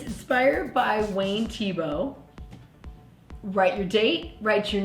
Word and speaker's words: Thiebaud: But it's spelled t h i e b a u d because the French don't say the ending of the word if it's consonant and often they make t h sound like just a t.